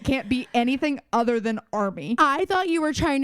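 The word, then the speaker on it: Armie: Army. I will never remember it. It's spelled I will never Army.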